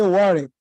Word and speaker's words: Warwick: Professor Joe Angouri, University of what I see here is Warwick, but when they pronounce, they say Warwick.